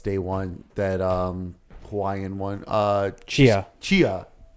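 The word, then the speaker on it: Tchia: Chia. Chia. Is this one the T silent? Yeah. Okay. Kind of. Chia. Chia. Chia. Chia. Chia. Cha. Chia. So Chia.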